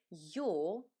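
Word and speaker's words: Ё: What is interesting about this letter is that yo is always under stress. So if you see this letter in a word, just know that this syllable is stressed.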